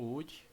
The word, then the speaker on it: Woody: Trabalho como não sou o Woody do Toy Story, né? Mas o nome é bem parecido, meio parecido não, é totalmente diferente. Mas a pronúncia é basicamente a mesma.